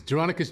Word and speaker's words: Jeronicus: Taking me back to your character, let's see if I'm saying it right, Jeronicus? It's Jeronicus Jangle.